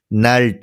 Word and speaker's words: knelt: नील, नेल्ट। तो इसमें के साइलेंट है, एन से पहले अगर के होता तो के साइलेंट होता है।